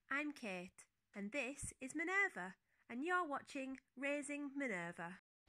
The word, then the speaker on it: Minerva: are wondering it's mi n ER V so Minerva I'm making this video today just to tell